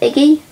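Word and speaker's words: így: whatever, and just say Iggy. That's right, Iggy. It's spelled I-G-Y, obviously, and it has that little mark above the eye.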